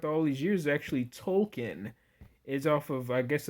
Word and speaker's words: Tolkien: So I don't know if this person is real or not, but his name is actually pronounced Tolkien, not Token Black Guy.